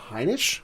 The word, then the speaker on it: Heinisch: Heinisch? Yes. I think it's his name. Heinisch.